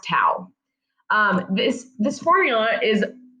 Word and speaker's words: tau: lowercase t it's a small capital t um pronounced tau um this this formula is r times f